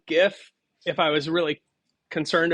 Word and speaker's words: GIF: is I would say GIF if I was really concerned about how to pronounce it uh because if you put a t on it you have a gift right you don't have I